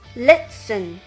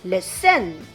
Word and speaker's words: listen: Which syllable is stressed? Yes, the first syllable, listen, not listen.